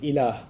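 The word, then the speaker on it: ilaah: La ilaha illallah, in which there's the term ilah.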